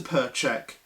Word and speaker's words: Percheck: it says dear mr percheck and yes in case you're wondering that is that is my last name that is how you